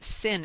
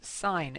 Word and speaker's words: sine: of X equals sine X and I don't pronounce this sinh X it's sine X and the difference between this one and